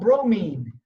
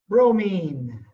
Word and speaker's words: bromine: spas and hot tubs it rhymes with chlorine starts with a B it's another element on